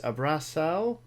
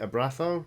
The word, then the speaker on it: Abraço: Love the podcast Abraço from Brazil and keep up the good work. Or is it Abraço? No, that's the Castilian C with a tail pronunciation. is an S sound. Like Oh, okay. Abraço.